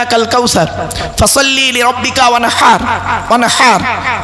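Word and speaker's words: وانحر: দেখবেন ইন্না আতাইনা সূরা পড়ি, ইন্না আতাইনা কাল কাউসার ফাসাল্লি লিরাব্বিকা ওয়ানহার, ওয়ানহার হাই হতি গলার ভেতর থেকে এটা উচ্চারণ করবেন, ফাসাল্লি লিরাব্বিকা ওয়ানহার।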